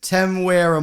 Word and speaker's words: Temuera: So does Temuera Morrison.